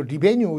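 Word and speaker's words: revenue: 한번 틀었더니 레베뉴 이렇게 얘기를 하더라고요. 레베뉴. 또 영국식 번역은 또 리베뉴 이렇게 얘기도 하기도 하는데 자, 레베뉴.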